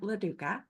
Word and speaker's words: Loduca: And one of our speakers is Loduca. Am I pronouncing that right? You are. Okay. You are.